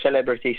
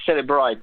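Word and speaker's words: Cellebrite: It's not exactly Celebrity, Celebrite, but whatever you want to you want to pronounce it.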